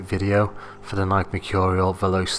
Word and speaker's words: Veloce: for the Nike Mercurial Veloce 3, or some people pronounce it the Veloce 3.